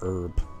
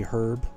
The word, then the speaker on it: herb: Yeah, do you guys pronounce the H in herb? Because we don't. We just say herb. But I think, like, British people say herb, right?